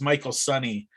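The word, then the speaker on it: Michael Sonye: You see Dukey credited as Michael Sonny quite a Yes. bit, and which is his Good job on the pronunciation.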